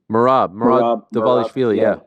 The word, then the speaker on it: Merab Dvalishvili: How do you pronounce his name? Merab Dvalishvili.